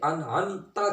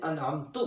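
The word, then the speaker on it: أنعمت: المستقیم صراط الذین انعمت، یہاں علماء نے یہ کنفرم بات لکھی ہے کہ انعمت کی جگہ کسی نے انعمتو پڑھ دیا، جان بوجھ کے پڑھ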